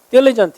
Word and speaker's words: diligent: 얘는 강세 이름절에 있고 diligent 이렇게 읽어요.